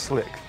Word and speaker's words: Sleek: Actually pronounced Slick, but we spell it Sleek.